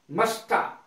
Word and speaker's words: musta: मस्ट have अवश्य लग जाता है जहां मस्ट लगता है, मस्टा, मस्ट हैव की short form MUSTA, मस्टा, मस्ट have की शॉर्ट फॉर्म।